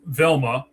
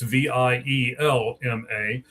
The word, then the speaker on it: Vielma: All right, so the second guy, Jimmy, is Carlos Velma. I believe that's how you say it. It might be Vielma. It's Vielma.